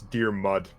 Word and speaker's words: Diarmid: So it's Irish, so it's Dear Mud. That's how it's pronounced.